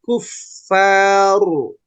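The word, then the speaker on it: الكفار: Hurufnya harus mengalirkan suara. Kuffaru. Liyaghiza bihimul kuffar kuffar. Nah, sekarang rohnya tebalkan. Oh. Bihimul kuffaru. Liyaghidha bihimul kuffar.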